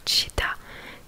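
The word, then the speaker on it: città: Genre par exemple le C suivi d'un E ou d'un I, ça se prononce tch, enfin c'est le tch. Donc bah, déjà comme exemple, je vous l'ai dit tout à l'heure, chita, donc qui veut dire ville, donc ça s'écrit C-I, 2-T-A, mais du coup le C et le I ça se prononce chi.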